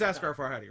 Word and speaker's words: Asghar Farhadi: Let me make sure You pronounce it correctly. it's Asghar Farhadi, right?